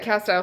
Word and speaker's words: Castile: We've got this pure castile liquid soap. Learned from you guys last week that I'm saying that wrong. It's pronounced Castile soap. Who knew?